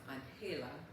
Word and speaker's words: Angela: Her middle name, Angela, pronounced Anela, was given to her by her grandmother, which means angel in Spanish.